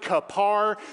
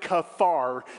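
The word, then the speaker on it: כֹּפֶר: tar is the word kaffar ki it's transliterated c-a-p-h-a-r some pronounce it kapar some pronounce it kafar depending on where you come from that word in the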